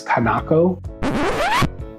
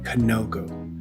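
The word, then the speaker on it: kanoko: red speckling known as kanako quick editing note here guys I I noticed I completely butchered the pronunciation of that should be Koko not kanako Koko Koko okay back to the video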